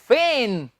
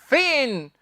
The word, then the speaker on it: feign: इसका सही उच्चारण है स्टूडेंट्स फेन, फेगन नहीं। जी इसमें हम नहीं बोलेंगे, ये है फेन।